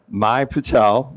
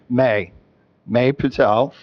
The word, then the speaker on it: May Patel: hereby is adopted honoring my Patel the captain of the team. I hope I pronounced your name right. My you say may Patel momentarily momentarily a little patience.